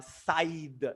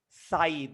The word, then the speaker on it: scythe: at the pronunciation uh side not not seed not sick side there's something called sickle